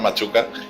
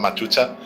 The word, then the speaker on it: Machuca: personalmente me han llamado, yo me llamo Machuca y me han llamado en retransmisiones Machucha.